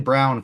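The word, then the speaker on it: Braun: time um what are your thoughts on Christian Brown for gpps today will Christian Brown yeah it's pronounced brown but spelled Brown yeah it's actually pronounced Christian Brown yeah it's I know it's ridiculous but yeah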